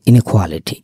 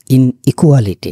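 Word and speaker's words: inequality: নাউ ইনকুয়ালিটি ইনিকুয়ালিটির ক্ষেত্রে উচ্চারণের ক্ষেত্রে দেখবেন যে ইনিকুয়ালিটি ইনইকুয়ালিটি না ইনিকুয়ালিটি ইকুয়ালিটি হচ্ছে সমতা আর ইনিকুয়ালিটি মানে হচ্ছে অসমতা বৈষম্য ভিন্নতা অসমতা বৈষম্য ভিন্নতা উইথ এবং আউট মিলে কি হয়?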